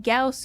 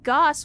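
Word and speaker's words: Gauss: made the choice to start pronouncing Gaus correctly because as a Texan, I had been referring to them as Goss weapons my entire life because I didn't know better and I'd never heard the word said out loud.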